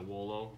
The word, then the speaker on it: Wolo: Which is probably why they're not going to last very long, but the strobe light is a Wolo. I think that's how you pronounce it, W-O-L-O.